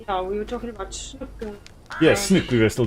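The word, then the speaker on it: snoek: I want oh yeah we were talking about snook yes snook we were still talking about so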